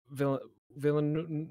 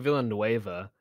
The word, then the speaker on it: Villeneuve: Yeah, Villeneuve. I keep on saying Villanueva, but it's not.